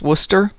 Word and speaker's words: Worcestershire: Nova says, you mean like how Worcestershire is pronounced Worcester?